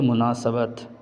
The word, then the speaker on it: مناسبت: کا صحیح تلفظ ہے مناسبت، سین پر زبر۔ اس کے بعد لفظ